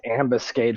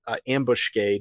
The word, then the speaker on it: ambuscade: It's ambuscade for me too. So we have somebody who says I'm not trying to offend anyone, but somebody does pronounce it ambushcade or something like that, and it kind of rubs me the wrong way.